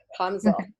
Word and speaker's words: Kraamzorg: ouais, Alors, c'est ça, tu es Kramazorg, si je le c'est prononce ça. bien de manière Kramzor. Kramzorg.